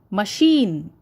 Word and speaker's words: machine: as much as am third one machine ma is not stressed at all Sheen is stressed okay so when you pronounce the word machine you tell it as not stressed a lot whereas Sheen is stressed so ma is an unstressed word part of the word fourth one employee okay